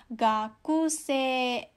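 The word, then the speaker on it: 学生: Nah, tapi karena bunyi i-nya ini setelah bunyi e, bacanya menjadi gakusei, ya.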